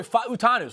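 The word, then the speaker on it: Fautanu: By the way, we have the official pronunciation guide that is rolling through now. I saw did a good job. Yep, Troy Fatanu.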